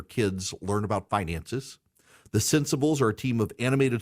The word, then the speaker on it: Centsables: And the cents is spelled like dollars and cents, C-E-N-T. So CENTSABLES, Sensibles.